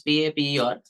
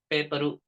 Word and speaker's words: paper: Telugu person to pronounce P-A-P-E-R, the person most probably says paperu. Very less amount of air comes out. Whereas in English, it's a paper. The paper moves when you pronounce the word paper correctly.